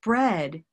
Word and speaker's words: bread: great gray day great and bread is a third sound that's different from eat and great bread bread red pepper bread you can see how